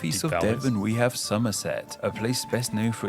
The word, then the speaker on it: Somerset: of devon we have somerset a place best known for its cider and the village of cheddar which yes the cheese is named after the name sounds like the season of summer for a good reason